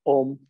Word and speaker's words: Om: Y como nos decía la indicación, la idea es que la M dure el doble de lo que dura la pronunciación de la O.